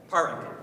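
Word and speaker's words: Pádraig: Now the internet says Parwick, but if we're going to say Patrick, we're going to go with the U.S. pronunciation, but the Irish pronunciation is Parwick.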